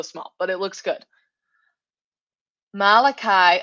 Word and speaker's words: Malachi: Malachi. Am I saying that right? Am I pronouncing your name right, Malachi? Okay, great. That looks great too.